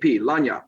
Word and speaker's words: lagniappe: You could pronounce it Lanyap.